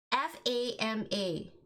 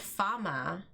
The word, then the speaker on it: FAMA: wait skateball so f-a-m-a how do you pronounce that fama yeah the american way because in my head i have been pronounced don't shake your head at me british these these british these british schools you go to i swear emma because in my head i i kept pronouncing it farmer like so one day